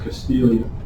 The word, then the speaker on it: Castiglia: The name is pronounced Castilia. Okay? Diagonals, if you look at that, it's Mangano, okay, but it's not. It's diagonal. The name is Castilian. The G is silent, the L is pronounced.